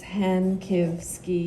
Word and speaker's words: Hankivsky: So maybe I'll take the opportunity to do then it's Hankivsky. You do it one syllable at a time, and it gets easier, I promise.